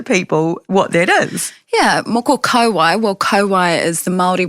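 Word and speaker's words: moko kauae: But let's start with me getting my pronunciation right, which is and those listening, moko. Yep, moko. Yeah, moko kauai.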